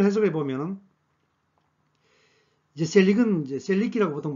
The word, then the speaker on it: Selic: 자, 이걸 해석해 보면은 이제 셀릭은 이제 셀릭이라고 보통 발음하는데 기준금리를 뜻합니다.